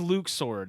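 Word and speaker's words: Luxord: who exactly are you Luke sword he says Luke sword and that makes me angry because I was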